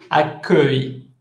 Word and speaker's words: accueil: Esta palabra es súper difícil de pronunciar. Accueil. Hay una sola U, solo dije una U.